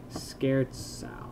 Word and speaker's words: scherzo: Scherzo, scare, zau, it's Italian, the Z is pronounced like a pizza. Cool. Well, scherzau. I see. Scherzo.